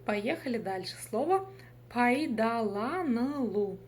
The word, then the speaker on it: пайдаланылу: Слово пайдаланылу. Здесь нет ничего сложного, просто разделили по слогам и прочитали. Пайда, пайдала, пайдаланылу. Буква «ы» читается очень коротко, да? Помним об этом.